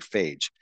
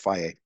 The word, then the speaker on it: Fage: I know it looks like phage, but it's pronounced Faye.